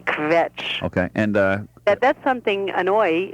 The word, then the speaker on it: kvetch: It's a very difficult word to say. KV with nothing in between. Kvetch.